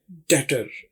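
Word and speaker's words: debtor: कंजूस जी यह है डेटर अगली खूबी या खामी क्या है डेटर इसमें बी को नहीं पढ़ा जाता हालांकि स्पेलिंग है डी ई बी टी और टेटर भी साइलेंट है ये कहते हैं मकरूज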